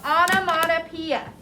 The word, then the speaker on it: onomatopoeia: It's called onomatopoeia, and it's spelled O-N-O-M-A-T-O.